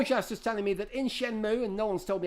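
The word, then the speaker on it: Shenmue: on sh with me Shen pronunciation shenmu shenmu there you go it's been resolved runs for all it's shenmu got sheni six out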